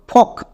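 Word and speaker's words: folk: এফ ও এল কে ফক। একে আমরা ফলক উচ্চারণ করবো না।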